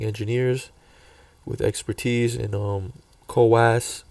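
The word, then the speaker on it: CoWoS: So um in November last month, Apple posted listings seeking DRAM packaging engineers with expertise in um coass kos that's how you say it.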